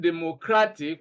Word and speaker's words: democratic: For example, the word democratic, we break it into 4 syllables. Democratic. And then we count from the end. 1, 2, 3, 4, and we place stress on the second one, which is cra, and that's why we have democratic. Now, moving forward, we have rule number 7.